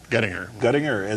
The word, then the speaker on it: Guettinger: So this gentleman sitting next to me, who is Ralph Guettinger, Guettinger, that's how it's pronounced.